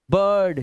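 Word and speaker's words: bird: Shirt, chirp, dirty, firm, और इन सब में आई का जो उच्चारण है वो देख रहे हो आप, ना तो ई है ना आई है, ये आवाज है अ की। Form a, dirty, बर्ड, shirt, chirp, देख रहे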